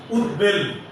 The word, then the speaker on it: উদ্বেল: 4, উপসর্গ যোগে গঠিত শব্দে যদি ব ফলা থাকে তাহলে সেই বয়ের উচ্চারণ হবে না। আমি আবার বলছি, উপসর্গ যোগে গঠিত কোন শব্দে যদি ব ফলা থাকে তাহলে সেই বয়ের উচ্চারণ হবে না। যেমন উৎ যোগ বেল, উদ্বেল।